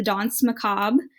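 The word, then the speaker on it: danse macabre: something called like the dance macabre um which is not spelled at all like how it's pronounced it's like the dance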